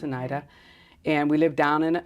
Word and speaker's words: Anita: It's spelled Anita, but it's Oneida.